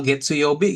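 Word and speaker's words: 月曜日: Kalau Getsu Yobi gimana coba?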